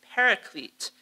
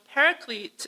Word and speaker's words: paraclete: a really important one paraclete which john uses to describe an important role of the holy spirit so paraclete is the english pronunciation of parakletos a greek word made by combining pera